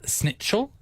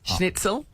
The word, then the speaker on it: Schnitzel: Like a schnitzel. Did I say it right? No. Schnitzel. Chicken.